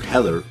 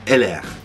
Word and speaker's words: Heller: Heller humberal tooling okay actually it's not called Heller but Eller right if if I got this right because it's French right French producer and in French you'll pronounce this as not Heller but yeah so you